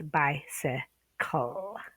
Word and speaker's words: bicycle: We do not want them saying bic, cycly. If they know where to split the syllable, they know to follow the general rules. Not always, there's a lot of exceptions, remember, but you're here to show the exceptions, but first show the rules or the most common pattern. So we have bicycle. Remember the C-L-E? The C goes with the L-E. It's not clee, it's bicycle.